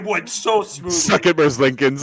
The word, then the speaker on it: Merzlikins: I looked at the Google pronunciation. I might be Merzlikins.